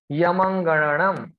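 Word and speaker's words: ञमङणनम्: Yamangananam. Ya ma anga nam. Yamangananam. Difficult to pronounce.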